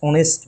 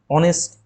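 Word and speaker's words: honest: হি is dash অনেস্ট ম্যান, অনেস্ট এইচ আছে, এটাও একটা নিয়ম মনে পড়েছে যে শুরুতে এইচ থাকলেও কিন্তু এইচের উচ্চারণ যদি না থাকে, উচ্চারণ হয় কোনো ভাওয়েলের মতো, তখন আমরা তার আগে অ্যান বসাই, এ বসাই না।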